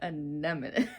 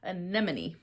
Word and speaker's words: anemone: a voice memo um pronouncing it anemone here I am him can't even say it again anemone right I believe so when I was working